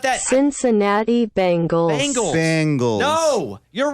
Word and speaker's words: Bengals: thank you wait what so it's like Ben like b e like Ben Gay yeah it's not Bengals Bengals it's a Bengal